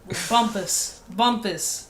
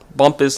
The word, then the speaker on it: Bumpass: Bumpus. Bumpus like compass. Bumpus. Wait, hold on a minute. It's Bumpus. It may be spelled like that, but it's pronounced Bumpus.